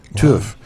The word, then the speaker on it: Tough: There's a town of Tough in Scotland. They pronounce it Tuff.